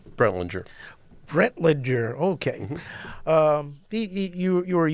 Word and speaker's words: Brentlinger: Mr., or should I say Minister, Timothy L., how do you pronounce that last name? Brentlinger.